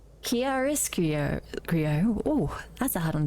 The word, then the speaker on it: Chiaroscuro: Pronunciation. Chiaroscuro. Oh, that's a hard one to say. Chiaroscuro.